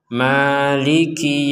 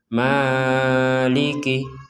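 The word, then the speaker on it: مَالِكِ: Di sini ada huruf mim berharakat fathah. Kemudian ada di sini ee tanda panjang. Ini tanda alif kecil. Nah, alif kecil maka kita bacanya panjang dua harakat saja. Jadi tidak boleh tidak boleh lebih dari itu. Jadi kita membacanya maiki yaumiddin. Jangan sampai dibaca malikih. Malikih itu kepanjangan.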